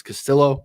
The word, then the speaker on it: Castillo: Castillo, again, continue to be told it's Castillo. We have to say the L's, even though it feels weird. That's how he pronounces his name.